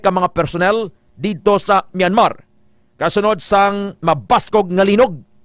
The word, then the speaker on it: Myanmar: condominium dito sa Mandale sa Myanmar or ang pronunciation sa mga tumandok ito Myanmar old name is Burma isa sa mga nasyon